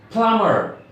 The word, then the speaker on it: plumber: ber but a vita silent packet so the pronunciation she'd be like plumber not lumber kilometer tickets it so - take